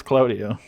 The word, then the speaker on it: Claudio: When you say Claudio, it's Claudio. Oh, sorry. What? Okay, how do you pronounce the things, the fluffy things in the sky? Cloud. See. It's an A, not an O. Yo.